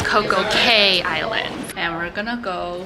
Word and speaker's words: Coco Cay: We're in Coco Bay, which is, I believe, an island owned by Royal Caribbean. Okay, oops, I said it wrong. It is not Coco Bay, it's Coco Bay. Cay Island.